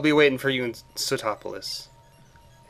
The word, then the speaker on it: Sootopolis: So I'll be waiting for you in Sootopolis.